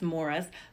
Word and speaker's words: Maurice: true story about morris and it's spelled maurice but they say it as if it's morris morris fitcroft i love